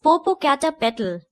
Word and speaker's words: Popocatepetl: of this mountain father I know how to pronounce it it is Popocatepetl for poor cat pepper well it is not